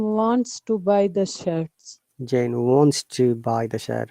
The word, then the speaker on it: Jane: sorry what's the name jan jane yeah it's a bit long of all sound not jan because of the e because it's a proper now it has become longer yeah okay jen yes